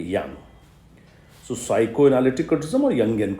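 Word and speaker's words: Jung: have heard this name j-u-n-g it's pronounced young okay young so psychoanalyticalism are young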